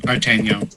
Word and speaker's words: Artignon: Artagnan. It's D'Artagnan without the D, with proper pronunciation.